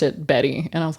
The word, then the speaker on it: Bette: Davis because of the way that it's spelled, but I found out that she pronounced it Betty and I was like I heard you say that on a previous episode and I just like let it slide.